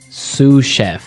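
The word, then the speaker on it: sous chef: Sue chef. S o u s. So the s is silent because it's like a French word.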